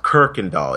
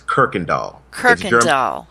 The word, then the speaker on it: Kuykendall: been mispronouncing it uh it's pronounced kirkendal it's k-u-y-k-e-n-d-a-l-l it's dutch it's dutch german and the r um the kuy the y is pronounced r it's kirkendall yes i thought i